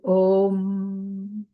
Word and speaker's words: om: with the sound uh with the sound U it is opened up by the sound m m it obtains sound and the half syllable is still so remember when we talked about Matra the a Matra is a full Matra is the whole F whereas m is only half we say om we don't say ma